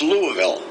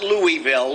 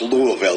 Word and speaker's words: Louisville: hey how you doing and it's it is pronounced Louisville right not Louisville or Louisville Louisville my wife and I had I had